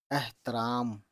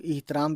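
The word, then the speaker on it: احترام: तो देखिए अलिफ और बड़ी है ज़बर अह होना चाहिए, लेकिन यही चीज़ है, इसका प्रोनाउंसिएशन एह होता है, एह, एहतराम। ठीक है, कुछ लोग इहतराम भी बोल देते हैं, तो कुछ लोगों की बात ही अलग है।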